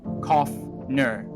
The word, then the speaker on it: Coffner: Coffner pronunciation coughner meaning animal with fur.